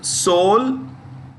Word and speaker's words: Seoul: it as so the soul because the E is silent okay there is in solely silent so it is s-e-o-u-l soul South Korea IBM International